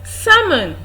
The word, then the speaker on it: salmon: what we have pam pam pam we have salmon salmon salmon and we have good food good